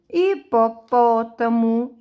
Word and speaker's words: hipopótamo: gente olha presta atenção hipopótamo é acentuado no pó búfalo é acentuado no